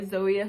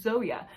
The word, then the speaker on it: Zoje: 25 into mothered by zoeia stage by the way I learned how to pronounce though you stage's name and it's not Zoe it is Zoya so a little correction